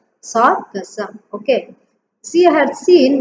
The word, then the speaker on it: Sargassum: Okay, S-A-R, Sar, G-A-S, Gus, S-U-M, Sum, Sargassum.